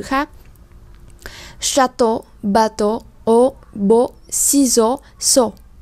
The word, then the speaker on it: ciseaux: Ciseaux thì các bạn để ý là âm S này không được đọc là S mà được đọc là Z.